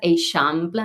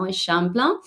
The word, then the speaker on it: Eixample: this neighborhood with this kind of like tricky pronunciation that Laura had already pointed, Eixample, no, Eixample.